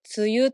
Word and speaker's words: 梅雨: それに雨って書いて梅雨と読みます。